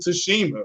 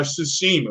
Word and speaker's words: Tsushima: You can talk about Ghost of Tsushima or Tsushima. I'm sorry, the T is silent.